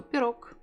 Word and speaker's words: пирог: And it's much easier to say K, letter K at the end. So pirog.